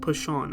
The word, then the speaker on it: Persson: coming into play yes his name is actually pronounced p Sean I'm pretty sure but